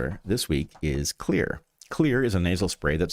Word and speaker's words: Xlear: It's Xlear, that's X-L-E-A-R pronounced "Clear." Improvements in sanitation hygiene have